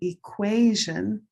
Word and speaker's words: equation: Green tea equal olive sock equality gray day equation. Black cat equilateral. So those four words are all related. Different stress location, different color.